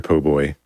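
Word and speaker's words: po' boy: So, either that or an oyster poboy.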